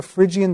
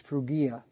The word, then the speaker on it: Phrygia: 4 they spoke a Phrygian dialect well again if I pronounced it the way they did back then it was fruga but we say Phrygia their Phrygian dialect but